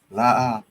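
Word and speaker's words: לא: La.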